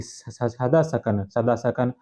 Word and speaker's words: सदासकन: हालांकि बी N Mukherjee का कहना है कि सदासकन नाम का ही सही उच्चारण है, जो कुजुल कडफिसेस का पुत्र था।